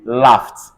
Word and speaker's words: laughed: So laughed, because this is F here, this is going to be laughed.